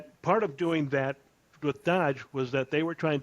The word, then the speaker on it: DOGE: And I call it Dodge on purpose. All right, I know a lot of people out there are pronouncing it Doge, or Doge or something like that, but I call it